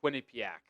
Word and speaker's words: Quinnipiac: It's not as good as the Quinnipiac.